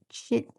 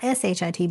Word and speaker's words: chit: It's CHIT. Shitting? Chitting? Not SHIT, but CHIT. Chitting.